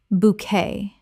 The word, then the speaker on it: bouquet: vernacular vernacular Word 142 bouquet Common mispronunciation bouquette Correct pronunciation bouquet Two syllables with the t completely silent. This French word kept its original pronunciation.